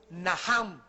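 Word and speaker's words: נחם: La primera palabra que se usó en el Antiguo Testamento es Naham, en el hebreo que se escribe Nacham. La CH en el hebreo se pronuncia como J y significa cambiar la manera de pensar.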